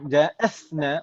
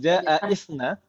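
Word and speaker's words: جاءتنا: Kita kenapa bacanya ja'athna bukan ja'isna? Hamzah wasol. Ini hamzah wasal ya. Hamzah wasal kalau di tengah tidak terbaca.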